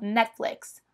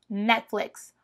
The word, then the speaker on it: Netflix: e séries mas lá na gringa eles falam Netflix Netflix Você quase que pronuncia super rápido esse net net e depois um flix Netflix Netflix não Netflix como a gente fala aqui